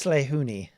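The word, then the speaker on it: Lehuini: I I don't think I really yeah it's slay hooni by the way the bringer of light uh how do you spell that uh l-e-h-u-i-n-i is my gold okay I'll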